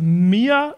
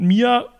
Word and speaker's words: Meer: Und zwar heißt das Mere Reflection und Mere habe ich jetzt mal irgendwie so ausgesprochen, es wird wie im Deutschen das Meer geschrieben, also M-E-E-R, Reflection.